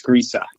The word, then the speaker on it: Griese: never really asked if your last name is pronounced or Greece but I I'm G to go with Greece well you're close there's an uh at the end so it's grea no kidding oh okay